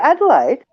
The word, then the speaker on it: Adelaide: e l a i oh adelaide yeah there you go that's how you say it adelaide yeah yeah right